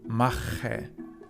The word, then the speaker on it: machen: Ich mache. You can hear that there are two different ch sounds in this one. Ich, very softly, and mache. It's in the back of the throat. It's very harsh, as if you were spitting out.